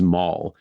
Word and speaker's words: Mal: The king of the Derevlians at this time is Mal, spelled M-A-L. So I might kind of switch between pronouncing it like Darth Maul and like Mal from Firefly as I go through the story.